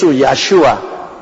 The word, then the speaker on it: 야슈아: 그 야슈아라는 이름, 그 발음이 가장 가까운 나라 중에 하나가 우리 한국 사람입니다. 우리 예수, 야슈아 맞죠? 미국 발음은 굉장히 나쁩니다. 야슈아를 지휘자서라고 합니다. 할 수 없이 지휘자서라고 내가 말을 하지만은 너무너무 틀립니다.